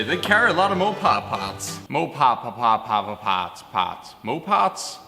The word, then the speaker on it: Mopar: Industries because they they carry a lot of mopar parts Mo papa papa Parts more parts Mopar